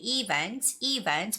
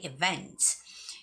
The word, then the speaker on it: events: And I know a lot of students, some people you might say events, but no, that's not the right way of saying that word. The word's stress is on the second syllable, so you have to say events.